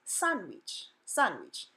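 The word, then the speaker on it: sándwich: it's not pronounced sandwich the letter A says ah in Spanish so the first syllable is son son not San and the second so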